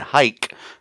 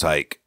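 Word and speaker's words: Huyck: a jury investigating the death of super superintendent hike you're welcome guys I I pronounced it right instead of uh dang over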